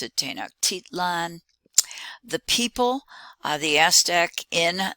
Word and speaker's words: Tenochtitlan: is given at the top and you can pronounce it tenochtitlan the people the aztec in that city uh